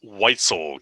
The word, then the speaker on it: Weitzel: from outhouse tell me how to pronounce your last name so i say it right it's white white so weitzel you heard it here first okay so tell